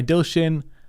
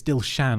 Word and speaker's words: Dilshan: Designed by Dilshin Kanamge. Kanamge. Did I pronounce that correctly? Oh, sorry, it's Dilshan. I've been saying Dilshin for weeks now.